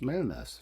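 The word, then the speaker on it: Mellnäs: You pronounce it wrong for me. Melness.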